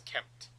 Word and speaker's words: kempt: And I try to make sure that I try to pronounce, like, I try to pronounce the M in Kempt, but it takes effort.